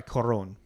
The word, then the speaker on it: Cuarón: Sorry, Cuarón. The O's got the accent.